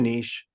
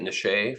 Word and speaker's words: niche: So, well, not argument, but anyways, uterine niche. I'd appreciate it if you pronounced it niche for the rest of the pod, Niche.